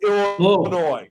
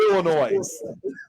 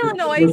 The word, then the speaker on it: Illinois: it correctly despite that there's an S at the end of Illinois the S is silent it's Illinois not Illinois no it's Illinois you guys all the